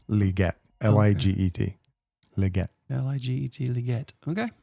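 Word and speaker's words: Liget: Leggett. How's that spelled? I don't know if I'm pronouncing it correctly, but you know the word legit? Like, that's legit, man. Yeah. Flip the I and the E. Leggett.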